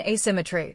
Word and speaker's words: asymmetry: Information asymmetry, stress the third syllable in both words.